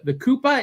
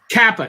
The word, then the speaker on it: Kappa: So you went to Japan and you were investigating the Koopa. Is that how you pronounce it? The Kappa.